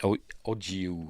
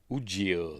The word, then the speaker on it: Ujio: I can never pronounce it. Ojiu or something like that. How the hell do you pronounce it? What is it? Ujio, that's it.